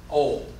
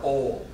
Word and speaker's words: oil: I pronounce it the dumb, ignorant, racist Southern way. And how is that? Oh. Yeah, that's the way I pronounce it. Ol. O-L-L, or ol.